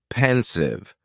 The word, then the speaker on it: pensive: were friends next is pensive and the pronunciation is very easy just two syllables and the stress is on that first syllable pensive now if somebody is